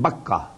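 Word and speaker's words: Bakkah: one that is at Baka Baka and makah is the same word two pronunciations of the same word Bak you know bak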